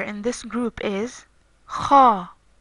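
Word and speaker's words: خاء: The third and last letter in this group is Kha. Kha. This letter is pronounced like in the English word loch or the Spanish word naranja, which means orange.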